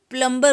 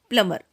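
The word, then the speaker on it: plumber: प्लमर, अक्सर इसको प्लम्बर बोलते हैं, लेकिन वो गलत होता है। सही प्रोनाउंसिएशन होता है प्लमर।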